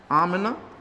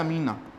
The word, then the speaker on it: आमिना: सबसे इंपॉर्टेंट चीज कि जब ये मां के गर्भ में होंगे, इनकी मां का नाम है आमिना, हिंदी में प्रोनाउंस करते हैं अमीना।